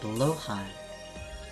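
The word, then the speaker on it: Blåhaj: It's pronounced blowhai. Blowhai.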